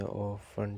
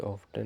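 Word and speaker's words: often: का हम कहते हैं ऑन ठीक टी साइलेंट हो ग इसमें ठीक ऑफ्टन नहीं बोलेंगे ऑन बोलेंगे ठीक हो गया और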